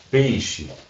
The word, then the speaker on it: peixe: Esse é um outro caso, que esse I a gente até desaparece, né? Se a gente for pronunciar, uma pronúncia não cuidada, a gente nem fala esse I, a gente fala peixe, né? Um peixe, a gente não fala peixe. Então esse I ele até desaparece aí, então fica claro que é uma semivogal, tá?